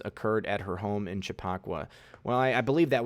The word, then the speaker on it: Chappaqua: arrests know somebody said Juliet it's called it's pronounced Chappaqua actually actually thank you though thank you I